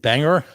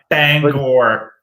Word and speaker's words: Bangor: We did Portland, we did Bangor, we did Lewiston. Oh, you said it wrong. Oh, you said it wrong. Bangor.